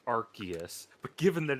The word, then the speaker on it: Arceus: accept that the council has decided it's pronounced Arceus, but given that it's a stupid ass decision, I have don't elected even to think- ignore it.